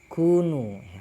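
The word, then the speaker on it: كونوا: Ay qalat yahudul madinati lil mu'minin kunu, bacanya kunu ya.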